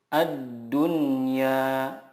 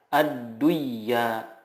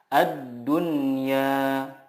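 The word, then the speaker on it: الدنيا: mutlak izhar mutlak contohnya addunya tidak dibaca adduya tetap tapi yang benar adalah addunya bunyanun inwaunwa Nun nah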